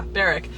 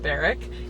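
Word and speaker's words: Berwick: But it's called Bodega on High, and it's in Barrack, I think. Yeah, Beric. It's spelled Bear Wick, but my mom told me that it's supposed to be pronounced Beric.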